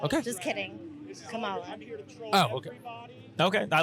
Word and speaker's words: Kamala: then uh who are you voting for uh comma Comm okay just kidding Kamala oh okay okay I like that said it